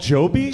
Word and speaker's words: Joby: Joby. Joby. Yeah. Uh yeah, helicopters that rhyme with Kobe.